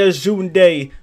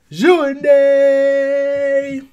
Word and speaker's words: Djoundi: DJOUNDI! I told you the D is silent.